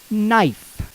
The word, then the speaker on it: knife: In Old English, this word would actually have been pronounced canife. In Old Modern, it came to be pronounced knife, and is now written in